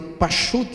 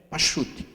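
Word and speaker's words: פשט: pechat é uma palavra Hebraica se fica se pronuncia paute é simples simplesmente paute e esse paute que é o p de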